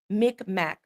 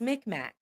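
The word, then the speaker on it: Mi'kmaq: Um, I am McMack.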